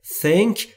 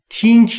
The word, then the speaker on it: think: هر دو تلفظ درسته تنک یعنی فکر کردن تینک نیستا عزیزان تینک نیست وقتی بگید تینک یعنی کهه شما در سواد بسیار پایین انگلیسی قرار دارید تنک زبونتون زیر نیش دندون بالا و سعی میکنید بگید